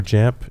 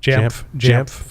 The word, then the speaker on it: Jamf: JAMF, is that how do you say JAMF or JAMP? JAMF. I call it JAMF.